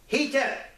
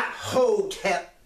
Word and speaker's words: Hetep: And as I always say, Hetep, Hetep, not Hotep. If you look at the way the word is spelt in what they call hieroglyphics, the Metu Neter, it starts with the He. Hetep.